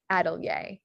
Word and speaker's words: atelier: So dossier, costumier, atelier. So that IER at the end of a word is pronounced yay in French.